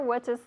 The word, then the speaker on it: watches: My sister watches television every day. Okay, watches. Acuérdate, porque como, imagínate esto, watch, en tercera persona es watches. Se añade una sílaba, porque no puedes decir watch.